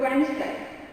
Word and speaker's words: Wednesday: The silent D is not pronounced in the following common words.